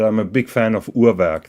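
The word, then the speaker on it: Urwerk: a big fan of urak that is B basically the way that they pronounce it so you've been discussing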